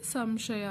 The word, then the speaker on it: ಸಂಶಯ: ಹಾಗೆ ಕಂಸ ನೆಕ್ಸ್ಟ್ ಸಂಶಯ ಇಲ್ಲಿ ಅನುಸ್ವರದ ಮೇಲೆ ಯಾವ ಅಕ್ಷರ ಇದೆ ಶ ಅಕ್ಷರ ವೆರಿ ಗುಡ್ ಅದು ಕೂಡ ಅವರ್ಗೀಯ ವ್ಯಂಜನದಲ್ಲಿ ಬರುತ್ತೆ ಹಾಗಾಗಿ ಇಲ್ಲೂ ಕೂಡ ಮ ಸೌಂಡ್ ಬರುತ್ತೆ ಹಾಗಾಗಿ ಸಂಶಯ ಅಂತ ಓದ್ತೀವಿ ಹೀಗೆ ತುಂಬಾ ಈಸಿ ಇದೆ